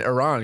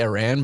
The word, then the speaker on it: Iran: He was like, that's what I'm saying, Iran, because I just feel bad, because I used to say Iran, but he's like, you're saying our country's name wrong.